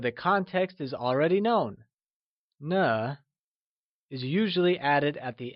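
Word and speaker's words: 呢: a new question particle, ne. Just like ma, ne uses a neutral tone and is pronounced using a soft falling sound, as if the sound is fading away, like ne.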